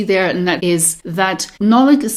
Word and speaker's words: Nollaig: Just listen very carefully, particularly to the Nolig part of it. So it's Dade na Nolig. Nolig. It's quite different from Nolig. You hear the difference?